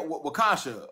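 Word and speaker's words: Waukesha: Wakasha.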